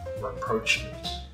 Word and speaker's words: rapprochement: Rapprochement. Is that how you say it? Rapprochement.